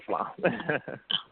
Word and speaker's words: Islam: And the last name is Islam, like the religion. So Rizza Islam.